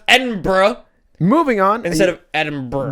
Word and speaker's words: Edinburgh: It's written EDINBURGH.